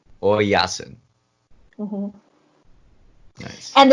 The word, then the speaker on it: Oyasin: Oyasin. Oyasin.